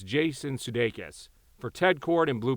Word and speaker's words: Jason Sudeikis: They didn't even pronounce the guy's name right, but it's Jason Sudeikis for Ted Kord and Blue Beetle 2.